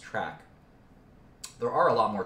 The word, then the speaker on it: TRK: a lot more track this is trk It's pronounced track there are a lot